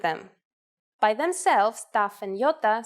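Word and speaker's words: Γιώτα: is a vowel that you may have heard called iota in Greek though it is called Yota and it makes the sound e again this will look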